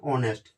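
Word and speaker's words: honest: तो इसमें एच अपना साइलेंट रहता है तो इसको अपन बोलते हैं ऑनेस्ट। ऑनेस्ट बोलते हैं इसको, ऑनेस्ट नहीं बोलते कि एच स्टार्ट है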